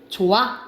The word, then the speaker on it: 좋아: 탈락합니다 그래서 대표적으로 여러분 봐봐 우리 이거 좋아라고 발음 안 하잖아 어떻게 발음해 좋아 이렇게 발음하는 거죠 그렇죠 예를 들어서 이거 싫어